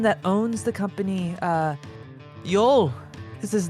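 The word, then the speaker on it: Yole: Uh Yol is his name. Y O L E. The E is silent.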